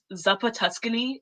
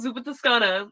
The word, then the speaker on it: Zuppa Toscana: that'd be called like Zappa Tuscany I'm like tell me how tell me how you are pronouncing Zuppa Toscana as Zuppa Tuscany Italian this is I